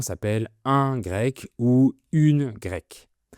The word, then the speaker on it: Grecque: Et les habitants s'appellent un grec ou une grecque. Donc c'est la même prononciation pour le masculin et pour le féminin.